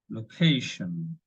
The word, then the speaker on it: location: Location, stress on ca.